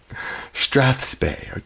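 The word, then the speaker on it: strathspey: for strap is strap last syllable being what Bob Barker always mentioned us to do to our pets awesome thank you Rod Strath spay thank you I I'll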